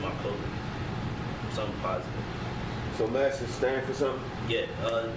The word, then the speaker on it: Masses: Masters, New York. Masses. Masters. You gotta spell it.